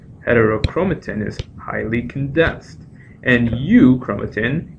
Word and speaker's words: euchromatin: When it's loosely associated, it's called euchromatin, and you can remember this with the mnemonic, heterochromatin is highly condensed, and euchromatin, eu rhyming with true, truly transcribed.